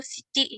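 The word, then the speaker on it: 七: Kalau 7 itu Nana atau Kalau 7 untuk jam itu shichi ya, jadinya dibacanya. iya jadi Ya, shichi. Kalau untuk khusus buat penyebutan jam.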